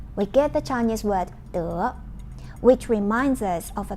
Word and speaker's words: 德: The Chinese pronunciation of this word is 德.